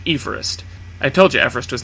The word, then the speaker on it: Everest: Everest you're still wrong the British surveyor-general of India for whom the mountain was named pronounced his name as George Everest I told you Everest